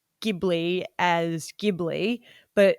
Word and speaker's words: Ghibli: the creator says and so ghibli i just have to say the hard g and i did have